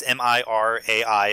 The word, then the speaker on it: Mirai: Ralph Breaks the Internet, Spider-Man Into the Spider-Verse, and Mirai, which I might be mispronouncing. It's Mirai. It's from Japan.